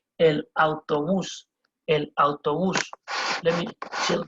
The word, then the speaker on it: autobús: Now, a bus, it's called el autobús. El autobús. You see the accent on the U there, it means there's going to be a stress on that U. El autobús.